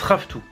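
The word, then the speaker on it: ravitoto: qui est le premier plat qui s'appelle le raftou ça s'écrit Rav Toto mais ça se prononce raftou m'a même mis la prononciation et tout c'est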